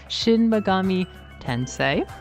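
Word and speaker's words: Shin Megami Tensei: Shinmagami Tensei, not Tensi, and the protagonist of Hollow Knight, which is uh kind of comical.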